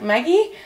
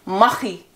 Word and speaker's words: Machi: with a product, and he pronounces it as like Maggie. I promise to say it like the Dutch people say it. It's Machi. Yes, it really is.